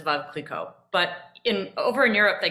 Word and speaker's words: Veuve Clicquot: So it's French and it should be pronounced as Veuve Clicquot.